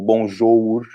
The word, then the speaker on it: bonjour: Então a gente não vai pronunciar amour, ou bonjour, o OU só faz um som, é o U, bonjour, amour, uri, nous.